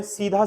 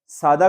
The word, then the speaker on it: सादा: ना बहुत लोगों का क्योंकि तुम लोग उच्चारण में सीधा साधा ही बोलते हो ये तो सीधा साधा आदमी सीधा साधा नहीं सीधा मतलब सीधा सरल सादा का मतलब बिल्कुल साधारण सादा साधा नहीं क्या होता है सादा समझ